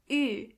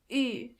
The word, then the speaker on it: Ü: This letter is pronounced Ü. To get the sound, start with a normal U and then make your lips even closer to each other. Ü.